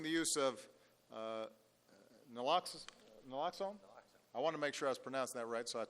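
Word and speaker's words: naloxone: We've got to expand prescriber training, increasing the use of uh nlloxx nlloxxone. I want to make sure I was pronouncing that right.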